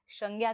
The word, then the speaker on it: संज्ञा: है तो यह जो संज शब्द है यही परिवर्तित होते होते संज्ञा बन गया है क्योंकि संज का उच्चारण संज से थोड़ा सा मुश्किल है इसलिए हम इसे संजा ना कहकर संज्ञा कहते हैं तो अब तक हमने